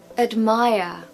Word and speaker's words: admire: say love admire admire we haven't got a strong vowel sound in that first syllable because the second syllable is stressed and the rule goes that the schah sound falls on the syllable that is unstressed so we have uh in the syllable that is unstressed so uh admire admire and of course no R pronunciation at the end we just say Maya